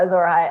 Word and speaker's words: Azor Ahai: Yeah, Azor Ahai.